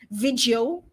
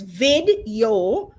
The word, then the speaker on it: Vidyo.ai: Now, in my mind, this is how this is pronounced. Vidyo, but it's really Vidyo.ai.